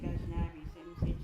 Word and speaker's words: Gajnabi: This is Jinabi. Gajnabi? I do say Gajnabi. That's the pronunciation, Gaj.